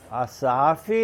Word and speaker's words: Assef: Asaf é o correto que consta na documentação.